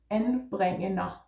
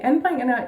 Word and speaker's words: anbringender: So the first syllable is en with a flat A.